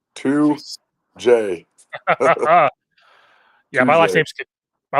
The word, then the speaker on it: Tujague: All right, coach 2J. Did I say it right? 2J. You did. 2J.